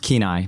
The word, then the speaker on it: Kenai: You grew up in Kenai, is it Kenai? Pronounced Kenai. Kenai.